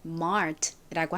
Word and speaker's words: mart: 한국식으로는이 마트 이렇게 읽죠 그런데 한국식으로는 마트라고 하지만 미국식 발음으로는 mart라고 합니다이 멀티는 중요한 단어예요 mart는 물건을